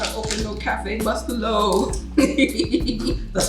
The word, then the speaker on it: Bustelo: She don't know how to open no Cafe Bustelo. That's how you pronounce it?